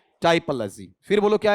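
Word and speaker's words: typology: टिपो नहीं, टाइपोलॉजी। इसका उच्चारण टिपो है या टाइपो? टाइपोलॉजी।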